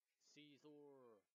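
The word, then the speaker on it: Scizor: Yeah, Dig should work on scissors. Scissors? Caesar. No, it's called Caesar, I think. That's the actual pronunciation for it.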